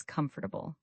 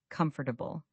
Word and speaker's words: comfortable: The correct pronunciation is comfortable. Say it with me. Comfortable. Notice how we say comfortable, not comfortably. the middle syllable almost disappears.